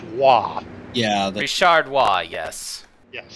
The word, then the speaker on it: Roy: I believe that name would be pronounced Wah.